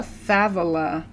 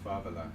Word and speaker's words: favela: I'm pronouncing it in Spanish. But in Portuguese? In Portuguese, I believe it is favela.